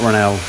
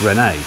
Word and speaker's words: Rene: It's not Ronel, it's Rene. Rene.